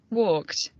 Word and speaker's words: walked: pronunciación, van a escucharlo Walked. Walked. y van a decidir con cuál de esas es que se está pronunciando ese pasado. Walk, presente, walked, pasado. Entonces, que con la T, o con la D, o con la que ustedes escuchen.